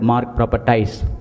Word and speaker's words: MARG ProperTies: talk about our brand, we normally pronounce it as MARG ProperTies, and we don't pronounce it as MARG ProperTies, because we just don't sell properties, we just don't sell land, but we sell emotions with our customers. That's why we call our brand, whenever we pronounce, we call it MARG ProperTies.